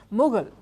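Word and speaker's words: Mughal: the word as well the English word Mogul as in media Mogul or oil mugul also comes from India it's how the English pronounced mugul India was so rich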